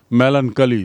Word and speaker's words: melancholy: मेलनकली सीधा उच्चारण, चोली नहीं है, मेलनकली।